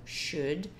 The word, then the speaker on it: should: Então, should. Presta atenção, esse L não tem som, é só should.